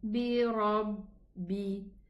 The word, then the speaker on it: بِرَبِّ: And then bi rabbi. Here we have shadda ba. So we are going to pronounce 2 ba, ba sukun and a ba kasra.